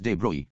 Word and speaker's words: de Broglie: French physicist Louis-Victor de Broglie, pronounced as de Broglie, put forward the bold hypothesis that moving particles of matter should display wave-like properties under suitable conditions.